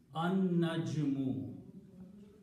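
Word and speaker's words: النجم: And the pronunciation again, this Noon that had a Fatha before will kill the sound of Lam, and Noon should be pronounced twice, An-Najmu. So the recitation will be An-Najmu. Noon is being pronounced twice, Lam is not being pronounced.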